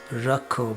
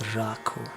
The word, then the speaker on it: राखो: So the word rakho, the A is not pronounced rakho, but it's pronounced rakho. Ah.